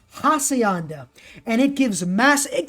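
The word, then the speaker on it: Hacienda: in the comments and the hakianda is actually pronounced hassayanda and it gives mass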